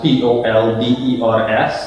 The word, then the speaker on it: polder: they had were locally known as fathers that's pronounced pol de RS it's simply an old-school colonial style water irrigation